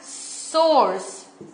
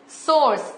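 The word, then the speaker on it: src: करते हैं हेच रेफ ओके इसे प्रोनाउंस करते हैं सोर्स इसे कैसे प्रोनाउंस करते हैं सोर्स इसे कहते हैं एस आरसी एट्रबीक ओके और तीसरा वाला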